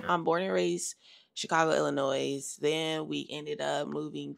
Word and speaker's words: Illinois: it's pronounced Illinoi but the S at the end is silent but I say Illinois